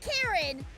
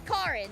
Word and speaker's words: Karen: Uh the it's not Karen, it's Karen. They are using the Japanese pronunciation. And in the Japanese pronunciation, it's a ca sound. Uh not a k sound.